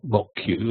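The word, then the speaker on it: Moq: a better way it's called mock objects and mock Q as it's pronounced is the one that's current in net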